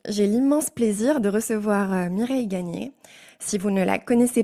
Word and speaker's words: Mireille Gagné: Alors je dis Mireille Gagné, mais ça s'écrit Mireille Gagne, donc...